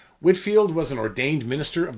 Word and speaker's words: Whitefield: and evangelist George Whitfield spelled Whitefield but pronounced Whitfield Whitfield was an ordained minister